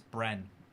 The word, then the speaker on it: Bren: Also, hey Toycat, you said my name wrong. It's Bren. Is that like Ben with an R?